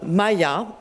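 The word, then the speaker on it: MIIA: Sure, so, well, what we concretely, we've just started experimenting a tool, and it's called Maya. I will spell it for, it's M-I-IA.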